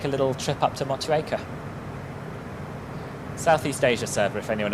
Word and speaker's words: Motueka: yeah, we'll take a little trip up to Motueka. Southeast Asia server, if anyone else wants to get ready for that. But obviously we'll hold off for Triduen's arrival, get everyone down and settled. Correct pronunciation, Motueka.